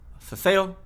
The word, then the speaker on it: ceceo: Spain along the coast, there is something called ceceo. Ceceo does not make any distinction between S, C, or Z. They're just all pronounced like a th sound.